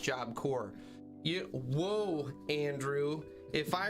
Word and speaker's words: Job Corps: a three-time felon and it's pronounced job core you whoa andrew if